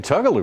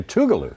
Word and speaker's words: Tugaloo: I've been saying Tugaloo, Ron. I say Tougaloo is what you say, Ronnie. Tougaloo. Tougaloo is the local. That's what the locals say.